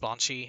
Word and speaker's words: banshee: have one of my I'm pronouncing it looks like bean sheed or something, but one of my friends, he's like really into Gaelic culture and language, and he always says it's meant to be pronounced Banshee, and I guess that makes sense because it's supposed to be like an English, Irish, Gaelic unit.